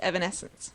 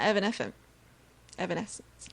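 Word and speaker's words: Evanescence: is it evanesence it if you say it correctly yes it is Evan Essence maybe not Evan Evan Essence effervescent it's basically what it sounds like um that is actually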